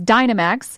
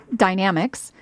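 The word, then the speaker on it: Dynamex: in legal circles as Dynomax which I learned on Monday is actually pronounced dynamics I'm sure I'm going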